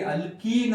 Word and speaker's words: alkene: ಅಂತ ಅನ್ಬೇಕು ಎರಡನೇದು ನೋಡ್ರಿ ಅಲ್ಕೀನ್ ಅಂತ ಅಂದಾಗ ಇದರ ಉಚ್ಚಾರ ಯಾವ ರೀತಿ ಇತ್ತು ನೋಡ್ರಿ ಈನ್ ಅಂತ ಬರತೈತಿ ಅಲ್ಕ ಈನ್ ಸೋ ಯಾವಾಗ ಉಚ್ಚಾರ ಹೈಡ್ರೋಕಾರ್ಬನ್